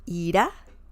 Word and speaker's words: irá: So irá means to leave or will leave. Ira means anger. And the pronunciation is a bit different too. Ira, anger. Ira, will leave.